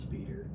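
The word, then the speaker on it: Spyder: plated, was Toyota MR2 Spider. It's actually pronounced Speeder, but that's what I think everyone says.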